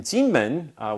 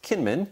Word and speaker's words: Kinmen: It took place in Jinmen, which we say in English as Kinmen, spelled with a K.